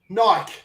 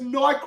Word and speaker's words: Nike: the fucking jerseys because Nike won't let them. Oh, really? Oh. It's probably because you say fucking Nike and not Nike. At least pronounce it right.